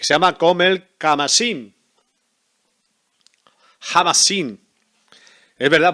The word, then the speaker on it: Khamasin: llama com el camarín jamás sin es verdad porque esto es una app que acá h se pronuncia ja y ahora me acordaba